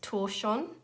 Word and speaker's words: tortillon: So I talked about paper stumps in my response to that question, or I believe the correct pronunciation is torsion, but it's pronounced, spelt Tortillon. I believe it's a French word, but they're known as paper stumps.